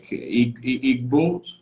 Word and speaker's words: Igbo: So, and 50 million is like Igbos. And when we think those 50 million are people that are connected to some Jewish roots. Is that correct? Yeah. So the G is silent. It's Igbo in and so there are different narratives.